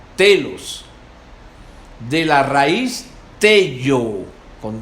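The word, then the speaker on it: τέλος: La palabra fin, una palabra griega que se pronuncia telos, de la raíz tello, con doble L, que dice fijar fuera por un punto de referencia o meta.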